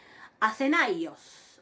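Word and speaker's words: Ἀθηναῖος: Acenaios. Acenaios. Esa es un adjetivo que digamos, alude al pueblo ateniense, ¿no? Ateniense, quiere decir. Acenaios. Ven de nuevo, ahí tienen el acento circunflejo, recae sobre la iota.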